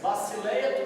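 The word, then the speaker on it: βασιλεία: Nós somos tentados mesmo a pronunciar, porque nós nascemos aqui, o português é muito forte, mas é Basileia Tuteu, o reino de Deus, tá?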